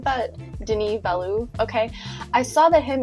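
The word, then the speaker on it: Denis Villeneuve: just found out how to say his name Den valo like like that's really how you say it I thought it was Dennis Banu or something like that Den Valu okay I saw that him and Christopher Nolan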